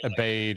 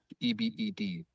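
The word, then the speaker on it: עֶבֶד: At least he didn't say like abade or abode or, you know. So, yeah. Or I've heard people say abad, which is the the etmology of it. Um, but anyway, pronunciation, gold star, ebe d ebed.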